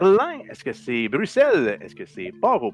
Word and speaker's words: Bruxelles: en bleu bruxelles en qu'il a écrit avec un x ne que l'on doit prononcer comme 2 est-ce donc c'est bruxelles et non pas bruxelles sur le thème à